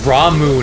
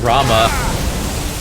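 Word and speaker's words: Ramuh: particle effects oh yeah it's ramu not Rama that's another weird pronunciation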